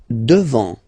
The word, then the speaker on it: devant: Devant, final T not pronounced.